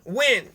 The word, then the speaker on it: Nguyen: popular name in vietnam i'm going to go with just win w-i-n there's in win and you win and if you pronounce every you know vowel sound and then it goes like this and eventually it just sounds like when in the end anyways